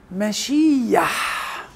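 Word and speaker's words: מָשִׁיחַ: الوقت الحيط مش ايه، فهي يدخل بتة مختلسة ما بين الكسر الطويل اللي هو هنا في الكلمة مشيح حريق يود، وبد يدخل بتة بين حريق اليود الكسر الطويل والحرف الحلقي، فتنطق ايه مشيح، اللي هي ترجمة مسيح. يبقى ما توقعش ان مسيح هتبقى مشيح، لكن هتبقى ايه مشيح، يعني تكتب الياء وعليها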